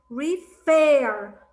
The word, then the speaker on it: refer: but how look i i'm saying the others the other syllable the last syllable i'm stressing on it i'm saying refer i'm stressing on the